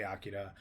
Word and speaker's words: Akira: I had just seen Akira or Akira, depending on how you want to pronounce it. It's actually Akira.